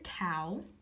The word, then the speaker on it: tau: torque this is the Greek letter tau or tau it rhymes with cow now how how can